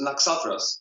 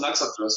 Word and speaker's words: Naxatras: Well, we call ourselves Naxatras. Oh, see, that is so much cooler. Naxatras. Yeah, so. Most people call us Naxatras, and it's not wrong. It's just like another way to pronounce it.